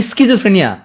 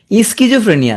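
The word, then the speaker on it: schizophrenia: পি নাই, হ্যাঁ এখানে একটা ঘটনা আছে, সাইকোলজিতে পি থাকলেও সিজোফ্রেনিয়া কিন্তু পি নাই, তাহলে মনে রাখবা কি স্কিজোফ্রেনিয়া, উচ্চারণ করবা কি স্কিজোফ্রেনিয়া, তাহলে ভুল হবে না আর।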